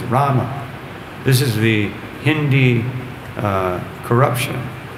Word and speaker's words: Rama: If you listen to Srila Prabhupada, when he chants, you'll never hear him saying Ram. He says Ram. Very short A. Rama.